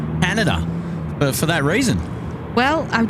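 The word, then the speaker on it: Haneda: uh and he said hanada just like Canada but with a h oh okay so I've I've uh I've started saying hanada for that reason well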